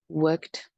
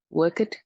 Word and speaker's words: worked: for them to pronounce because they pronounce all the letters. For example, looked, watched, worked. This is what I usually hear. Look it, work it, watch it.